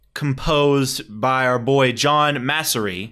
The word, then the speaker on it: Massari: So the soundtrack composed by our boy John Massari. I think that's how you say it. That's the thing with these. Massari. Okay, that sounds more correct.